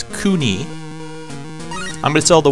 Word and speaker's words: Kewne: I was pronouncing it completely incorrectly. It's Kewne.